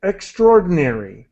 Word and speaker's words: extraordinary: I say EXT EXT extraordinary I I usually do not pronounce the a here extraordinary but that's just what native speakers say I I wanted to